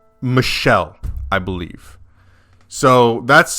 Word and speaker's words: Michel: off we discovered that Michael or as as both we have discovered and as one of my lovely viewers has pointed out um the name is actually pronounced Michelle I believe so that's